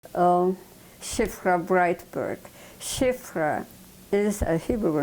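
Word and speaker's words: Szyfra: um, Shifrah Braitberg. Shifrah is a Hebrew name, but in Polish, the two letters, SZ, sounds sh, like in English, SH. So, Shifrah.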